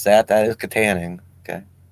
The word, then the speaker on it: Katanning: six six five i do know how to pronounce that that is katanning okay it's back in my neck of the